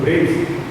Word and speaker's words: Preis: A pronúncia correta é Arno Praz, né? Mas como o irmão dele é uma figura pública, em Maringá, a gente conhece como Preis, e ele achou que não convinha ficar corrigindo as pessoas, então a